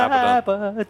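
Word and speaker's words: Abaddon: abon or a badon which one is the correct way to say it aad that's what he aad is what a says yes but it's abadon abon it's definitely abon I say AB sounds like a Japanese food like these yons or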